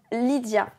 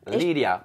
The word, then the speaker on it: Lydia: prénom, qui est pas Comment loin. on prononce ton prénom? Lydia. Lydia. Et aux États-Unis, ils Qui est un disent très joli prénom voilà. aussi. Et aux États-Unis, ils disent Lydia. Lydia.